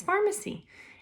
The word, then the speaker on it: Farmasi: thing this is it this is how you spell it i know it's going to be backwards but it's with an f f-a-r-m-a-s-i so this is pharmacy and i have some